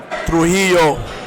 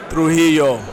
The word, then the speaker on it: Trujillo: she'll say she'll use she'll pronounce the ls as a double l but sometimes it's pronounced with a y sound so i just rolled the dice and i wrote it wrong so it's trujillo trujillo nobody tells